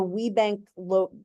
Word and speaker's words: WeBank: Now, this color palette is, I don't know if you can see, but in the WeBank that's how that's pronounced, WeBank logo, inside that C is like, there's like a little graphic inside the C.